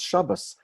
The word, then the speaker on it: Shabbos: here is a consonant why do sometimes hear the word Shabbat pronounce Shabbos that's just Ashkenazi pronunciation accent on the first and not the second to last syllable by this job but